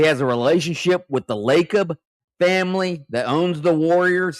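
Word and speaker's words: Lacob: Is it the Lob family? Is that how you say it? LeB So he has a relationship with the Lakob family that owns the Warriors.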